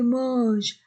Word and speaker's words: mangent: Dit Monsieur Vincent, I-N-1, E-N-1, les Français, A-N-1, c'est dit, les Français, A-I-E, les Français mangent, A-N-1, mange, E-N-T, du verbe ne se prononce pas, mange, moins que les